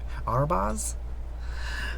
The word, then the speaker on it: Arbaz: Let's tap one white and let's tap this for red, and I'm gonna play Arbaz Mir. I'm probably pronouncing this completely wrong. Arbaz?